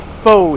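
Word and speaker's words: phở: enjoy a bowl of fo here. It's not faux, it's fur. Crank Road by AD. Actually, the way I said it was the Hanoi accent. In Saigon, it's different. In Hanoi, it's fur.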